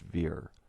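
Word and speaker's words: vier: below the word shake and german 4 is pronounced veer also psalm 46 is 11 verses which symbolizes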